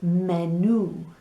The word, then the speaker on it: menú: We have a menu sound. En español it is menú. And because there's an accent on the U, that's where we land. Menú, el menú.